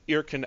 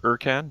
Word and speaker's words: Irkan: Pilot Ensign Irkin Alak, who I'm hoping I pronounced that name right. If not, feel free to correct me. Yep. So please describe your character, Irkin. I prefer Irkan, but that's okay.